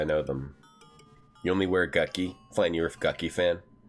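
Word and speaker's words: Gucci: Gucky. That's how it's pronounced. Gucky. G-U-C-C-I. Gucky.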